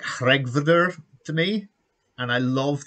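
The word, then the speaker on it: Hreggviður: as humanly possible and it sounds like regvder to me and i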